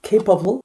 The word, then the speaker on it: capable: 강조가 있는, 액센트가 있는 K, 거기만 강조돼요. capable.